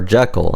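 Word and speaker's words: Zi:Kill: favorite j-rock bands called Z I kill or Jekyll as some pronounce it which come to think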